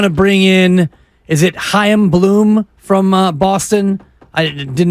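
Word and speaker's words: Chaim Bloom: I but that yes I believe it's a in there like Larry a i m exactly exactly like it's Hanukah right and if he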